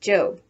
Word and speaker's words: Job: before going off to her job which in the bible is pronounced job remember that the one